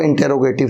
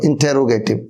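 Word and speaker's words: interrogative: अगर वो इंटेरोगेटिव है तो इंटेरोगेटिव, नॉट इंट्रोगेटिव, इंटेरोगेटिव।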